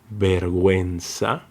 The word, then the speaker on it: vergüenza: But if this letter U has the umlaut dots on top, we're going to pronounce the letter U, like we, as in vergüenza, or pingüino, pingüino.